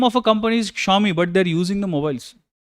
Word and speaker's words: Xiaomi: Xiaomi. So many people don't even know how to pronounce it. Xiaomi, they say.